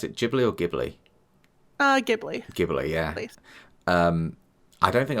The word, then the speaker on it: Ghibli: Do you pronounce it Ghibli or Ghibli? Ghibli.